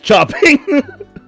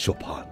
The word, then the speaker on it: Chopin: I mean, that's Chopin as chopping. Oh my god, I know so many people who do that. I'm like, no! It's Chopin. It's Chopin.